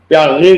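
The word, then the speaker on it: Piaget: तो इत्तेफाक से मैंने पहली किताब उर्दू में लिखी, कॉग्निटिव साइकोलॉजिस्ट, जिसे जान पियाजे कहते हैं हम, इंग्लिश प्रोनाउंसिएशन की वजह से फ्रांसीसी शायद उसका तलफ़ुज़ प्यागे करके करते हैं।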